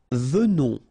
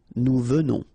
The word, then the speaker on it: venons: Nous venons. Okay, so final S not pronounced, and then remember that you pronounce this like a the. Venons. Okay, O-N in your nose, on. Venons. Nous venons.